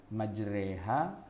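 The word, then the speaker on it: مجراها: Maduro ha Iya tulisannya Tapi bacanya bukan bacanya majreha ditekan Ya sudah siapapun orang yang pernah belajar baca tajwid gitu ya atau Tahsin Alquran kalau udah ketemu surat hud ayat 41 pasti bacanya majreha wa 21 Nyai malah di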